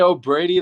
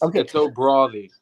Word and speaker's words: O'Bradaigh: If you say O'Brady, that's fine, but it's O'Brady.